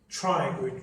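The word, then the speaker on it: pterygoid: Again P is silent. Triangid process.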